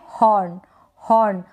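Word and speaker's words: horn: हॉर्न। एच को हम है प्रोनाउंस कर रहे हैं, एच को है। और एन का न बन रहा है, एन को हम न पढ़ते हैं।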